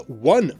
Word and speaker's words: one: As late as 1685, schoolmaster Christopher Cooper called the one pronunciation barbarous in his Grammar of the English Language.